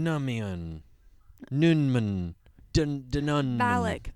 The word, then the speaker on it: Valak: Valak, that's how you pronounce it.